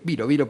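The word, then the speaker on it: Biró: O sea, Viro, que es húngaro, Viro porque es húngaro, acentuado en la primera sílaba.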